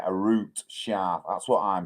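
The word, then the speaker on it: Arooj: While ex-leader Arouge, that's how you pronounce it, Arouge, or I just say Arut Shah.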